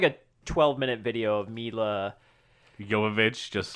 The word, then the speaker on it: Jovovich: I watched a little kind of featurette of it was like a 12-minute video of Mila Jovovich just... Jovovich. I didn't realize that's how you say her name because I butchered it in the first You part.